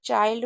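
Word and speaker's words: child: इसे लर्ड जैसे चाइल्ड अब यहां पर चाइल्ड में हमने इसे चिल्ड क्यों नहीं पढ़ा क्योंकि आई एल अगर कहीं पर भी होता है तो उसे आइल्ड पढ़ते हैं।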